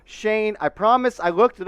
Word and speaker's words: Schoen: that's joe shane yeah he pronounces his name joe shane i promise i looked